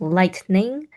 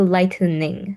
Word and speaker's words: lightning: So here it's just lightning. Don't do lightening. So try not to pronounce it like there's an e here. Okay. So two syllable word lightning as well.